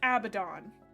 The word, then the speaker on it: Abaddon: It's pronounced Guillamon. It is Abaddon.